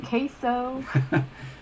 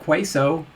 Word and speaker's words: queso: in velveeta chili calm queso hey at least you say queso and not quaso i mean that's something